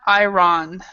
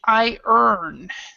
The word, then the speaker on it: iron: mispronounced by most everybody so this word is not I wrong or I roan it's I earn so it's more like